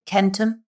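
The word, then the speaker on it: centum: We know that languages for example the Latin word for 100 is kentum and that hard C later in certain branches of the Induropean family became an S.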